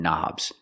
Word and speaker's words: knob: Because you turn them, we have to call them knobs. They're not buttons. You push buttons and you turn knobs. We see the word knob has a K, and the K is silent. Don't pronounce the K.